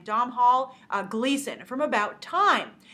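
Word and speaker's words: Domhnall: has uh domol I think that's how you pronounce his name Dom Hall uh Gleason from about time and I watched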